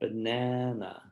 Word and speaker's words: banana: what you do is you pull the silic the rubber band out on the stressed syllable and then you let it go back quickly on the unstressed so banana and in the time